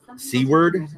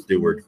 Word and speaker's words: Seward: Seward, is that how you say it? Because there's no T there. I thought it was Stewart, but I wonder if